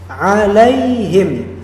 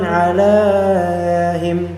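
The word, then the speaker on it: عليهم: Berarti bacanya itu alaihim bukan alaiim bukan alaihim enggak tapi alaihim langsung alaihim tiib.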